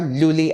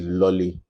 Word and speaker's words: Luli: I'm surprised that you actually got the pronunciation right for Luli, because we hear several versions of it. Yeah. Some will say it's Lolly. So I said, just put the pop so you know you're selling lollipop.